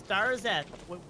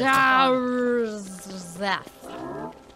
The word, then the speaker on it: Darzeth: It's Darzeth. What is this? Darzeth. Darzeth.